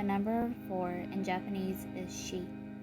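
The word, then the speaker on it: 四: four in Japanese is she which sounds like the pronunciation for death while the number of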